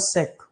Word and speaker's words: Cech: Thomas सेक। ये spelling C है ये ऊपर, थॉमस सेक, CECH, थॉमस सेक, CECH।